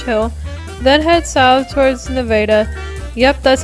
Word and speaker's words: Nevada: I start in southwest Missouri in the town of Rich Hill, then head south towards Nevada. Yep, that's how the town is pronounced.